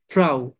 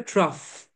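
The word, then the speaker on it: trough: এন্ড ট্রাউ খেয়াল করেন crest and ট্রাউ দেখতে মনে হবে ট্রাফ এনাফ ট্রাফ না ট্রাফ না এটার উচ্চারণটা ট্রাউ ক্রেস্ট এন্ড ট্রাউ মানে হচ্ছে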